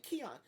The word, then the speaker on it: Queon: like I immediately like who's this I'm like Keon like how do you know how to spell it how to pronounce his name like how